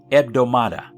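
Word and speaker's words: ἑβδομάδα: The Greek word for week is pronounced eomada.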